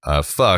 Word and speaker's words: pho: Well, it was in pho, which I like pho, the soup, the Vietnamese soup. That's how it's pronounced.